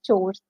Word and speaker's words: chores: again the term chores most people mispronounce it as course it's actually pronounced as chores household CH so all